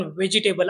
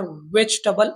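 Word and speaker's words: vegetable: यानंतरचा शब्द आहे व्हेजिटेबल याचा उच्चार बऱ्याच वेळेस आपण व्हेजिटेबल असा ऐकतो पण यामध्ये सेकंडी सायलेंट असल्यामुळे आपण याचा उच्चार व्हेजिटेबल असा करायला हवा.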